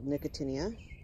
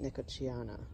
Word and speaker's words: Nicotiana: These are some little nicotinia. That's the way the British pronounce it. The English apparently, the Americans apparently pronounce it nicotiana or something like that.